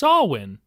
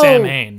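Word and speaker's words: Samhain: It's Sawwin or like it's spelled out like Sam Hayne.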